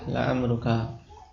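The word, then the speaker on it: لَعَمْرُكَ: Laruka walaupun dari sisi makna sama amru dengan umru sama juga dengan umur ya tiga cara baca tapi khusus yang digunakan untuk qasam yaitu dengan fathah laamruka.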